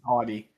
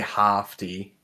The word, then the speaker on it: haughty: It's just it's still haughty is still pronounced the same way. It just looks like it sounds different because it says HAA, but that Haughty. haughty. Oh yeah, but haughty. A together phonetically is like a long A.